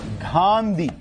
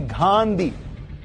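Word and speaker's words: Ghandy: नाम था फरेदून जहांगीर गांधी गांधी नहीं गांधी जिसको अगर आप इंग्लिश में लिखेंगे तो ये गांधी को लिखेंगे स्पेलिंग होगी जी एच ए एन डी वाई तो बेसिकली विरोध फिरोज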